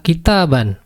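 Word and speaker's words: كتابا: dengan Fate in ya kita ban ini akan sama saja ketika kita tulis dengan mbak yang berharakat fathah bertemu dengan pun mati maka membacanya adalah kitaban jadi sebelah kiri atau sebelah kanan dengan sebelah kiri Ini sebenarnya sama saja dari sisi bunyi kitaban kitaban Saya di sini tidak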